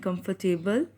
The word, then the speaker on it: comfortable: And comfortable, R is again silent.